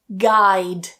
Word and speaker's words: guide: Guide. Guide. So, slight change in that vowel there.